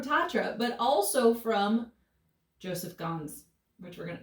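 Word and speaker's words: Ganz: but also from joseph gonz which we're gonna am i saying his last name right g-a-n-z i think that's correct guns scans guns i think it's guns anyways yeah i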